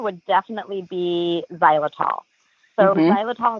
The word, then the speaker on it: xylitol: So, xylitol, it's spelled X Y L I T O L.